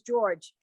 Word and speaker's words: Georg: But I'm always struck by that because in Hebrew, if you came to the name George, it would have to be Georg. Because there's no way to say J.